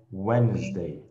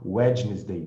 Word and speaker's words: Wednesday: Ok, so prestem atenção que esse D não se pronuncia, tá? É Wednesday, Wednesday. A gente tem uma tendência a querer falar Wednesday, né? Wednesday.